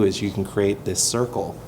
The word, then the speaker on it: Sirqul: do and that's why we named the company circle even though it's spelled funny yeah it means it's